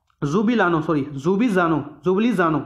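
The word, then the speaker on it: Ljubljana: लानो सॉरी जुबी जानो जुबली जानो जुबली जानो थे द कैपिटल है एल साइलेंट इस विच और यूरो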